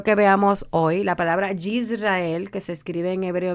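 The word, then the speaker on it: ישראל: La palabra Israel, quiero que veamos hoy, la palabra Yisrael, que se escribe en hebreo, mira aquí tenemos una Yud,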